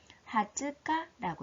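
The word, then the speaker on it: 二十日: 자, 20일이라는 단어는 특별히 하츠카라고 읽고 있죠.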